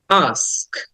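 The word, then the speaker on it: ask: The next word is আস্ক, আস্ক। আটা একটু open করে, মুখটা ওপেন করে আটা লং করে বলতে হবে, কারণ এটাকে লং সাউন্ড বলে। আমরা ওটা অনেকে আক্স বলি, কিন্তু উচ্চারণটা হবে আস্ক।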